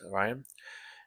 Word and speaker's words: Rian: Cover C by Rion Gonzalez. Orion Gonzalez, I guess. R I A N. That's how you pronounce it. Orion.